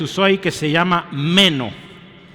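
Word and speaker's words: μένω: Hay una palabra griega que se usó ahí que se llama meno, o se pronuncia, meno.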